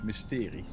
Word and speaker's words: mysterie: So that is how, you know, that is how you pronounce it in Dutch. Mysterie.